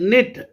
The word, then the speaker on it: knit: आगे word निट, एन आई टी, निट, के इसमें साइलेंट है।